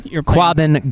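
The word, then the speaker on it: Quabbin: Quabin. Quabin. Thank you. I can't. So you say that again. Quabin garlic festival.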